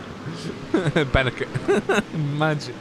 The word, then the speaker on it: Benecke: Benecke. Imagine if that was. I actually got it right, and that was the way you pronounce his last name, Benecke.